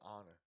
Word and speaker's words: honor: Is there any other words where the H is silent in the first, and it's the first letter? Yeah, honor.